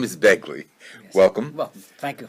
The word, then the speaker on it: Begley: I mispronounced his name before and I called him Baglia. He didn't mind being called Italian, but his name is Begley.